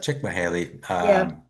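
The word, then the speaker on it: Csikszentmihalyi: Well, first of all, you know what uh I believe his name is pronounced chickmahaley, but he uh he he took you into the let phase.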